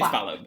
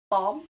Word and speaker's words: Balham: No, it is Balham. It's just... no, but people say Balm? Balm, yeah. Balm. Because Why? they're posh twats. But it's spelled Balham, so I'm going to say Balham. Balham!